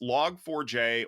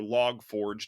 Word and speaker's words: Log4j: happened is is this log 4j or log forge depending on how you want to pronounce it is effectively integrated into